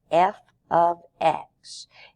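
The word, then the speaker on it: f(x): another way of saying y equals this is pronounced f of x it doesn't mean a variable f is multiplied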